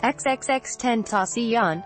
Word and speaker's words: XXXTentacion: Freud 20 who went by the stage name pronounced xxx 10 ASEAN was gunned down Monday bringing a violent end